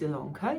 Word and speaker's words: Ilonka: welcome to stitch ilanka my name is ilonka yes it's spelled with an eye but pronounced with an